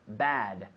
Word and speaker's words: bad: bad bad not now not not bath but bad those apples are bad